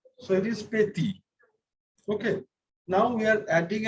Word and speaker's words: petit: The letter T is pronounced at the end of a word, it is not pronounced. So it is petit.